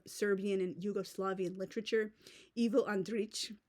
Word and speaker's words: Andrić: and Yugoslavian literature evil andrich like the C with the accent mark over it it's uniquely like Serbian cilic letter it's kind of pronounced like a TS C kind of like that but anyway that's off